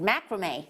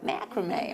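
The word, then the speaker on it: macramé: Now I can macrame, so if I can macrame, anybody macrame, or as our lovely Sandra Younger said, macrame from America, because that's how they pronounce it, don't they? Macrame.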